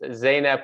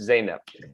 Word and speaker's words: Zainab: it correctly um and i always confuse zainab with uh i have a old colleague from afghanistan named zainab they're they're close but it's zaynab okay hey whatever you say